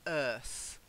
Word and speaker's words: earth: So just to confirm, it's earth with a th sound.